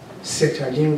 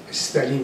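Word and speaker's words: Сталин: هم اژدنوفه نه ژادانوف ستالین غلطه استالین درسته شما اژدنوف رو با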